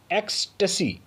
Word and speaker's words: ecstasy: बढ़ेंगे आगे, लेंगे हमारा अगला वोकैब और हमारा अगला वोकैब है एक्सटेसी, ECSTASY। एक्सटेसी, the right pronunciation is एक्सटेसी।